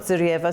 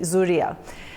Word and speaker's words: Zurya: Not Zuryva. Sorry, I pronounced your name incorrectly. Zurya, welcome once again.